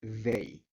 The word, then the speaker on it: they: Y por último tenemos el de ellos o ellas, que es they. ¿Listo? Importante para la pronunciación, sacar un poco la lengua entre los dientes. They, they. Hay como una vibración ahí.